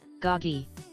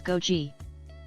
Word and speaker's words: goji: English, the correct English is how I pronounce it. Goggi, American English uses goji.